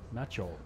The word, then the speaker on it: Maciol: do you say Ma how do you say his last name Macho Macho Macho cuz also it's uh instead of L you got this W our po Europe American W letter because Macho yeah it's Macho it's almost